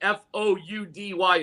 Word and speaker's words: Foudy: Foudy is Foudy, not Foudy.